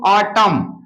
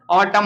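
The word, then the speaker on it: autumn: सदैव उच्चारण होता है किसी वर्ड में एम और एन एक साथ आने पर एन साइलेंट होगा अगर किसी वर्ड में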